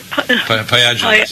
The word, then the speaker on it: pyogenes: Is that how you pronounce it? Pyogenes, yeah.